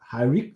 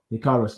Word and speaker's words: Hikaru: One of my highlights of the night was this next match, Britt Baker versus Hariko. How do you say Hariko? Hikaru.